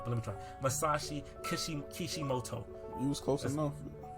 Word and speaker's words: Masashi Kishimoto: Masashi Kishimoto. You was close enough. How you say it? Masashi Kishimoto.